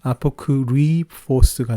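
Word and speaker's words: ἀπόκρυφος: 그래서 그대로 읽어보시면 아포크리포스가 됩니다. 이 U가 완전히 U랑 똑같이 발음이 안 됩니다. 영어 U하고 똑같이 발음이 안 돼서 아포크리포스가 됩니다.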